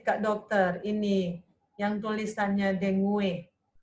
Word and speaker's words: dengue: How to read, Kak Dokter, ini yang tulisannya dengue. Dengi bacanya.